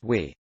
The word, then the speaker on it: Vi: name would be pronounced vodafone idea is now v pronounced we the brand integration not